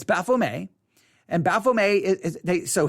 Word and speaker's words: Baphomet: o m e t bafflemay the t is usually not pronounced it's a french word um baphomet but and sometimes in america you'll hear it pronounced baphomet but it's baffle me and baphomet is they